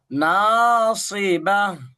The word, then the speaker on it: ناصبة: ناصبة সরটা একটু মোটা হবে, নাসিবা।